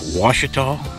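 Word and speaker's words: Ouachita: So we just did a basic, you know, Washita. That's pronounced, it's spelled with a Q. Q-U-A-C-H-I-T-A. That are these, that's these mountains around here.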